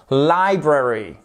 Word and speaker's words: library: qui est la librairie library attention accentuation sur la première syllabe library ce n'est pas la